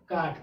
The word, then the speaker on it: caught: अब GH से पहले क्या आ गया, U आ गया, तो U क्या हो गया, साइलेंट, यानी कि U क्या हो गया, साइलेंट। इस वर्ड, इस लेटर्स का इस वर्ड में प्रोनाउंसिएशन नहीं हुआ तो क्या हो गया, CAGHT, काट।